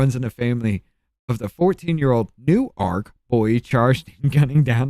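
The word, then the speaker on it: Newark: New Arc is how it's pronounced in Delaware.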